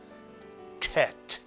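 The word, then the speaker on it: טית: These two letters make the same sound, but this letter is called a tet. It rhymes with bet.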